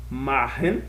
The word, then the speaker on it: machen: Machen, se pronuncia machen.